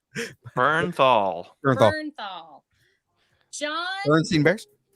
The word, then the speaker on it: Bernthal: Can we just say that I don't know how to say his last name? Bernthal.